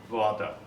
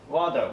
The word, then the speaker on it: rather: Think about your father, and now we change the letter R here.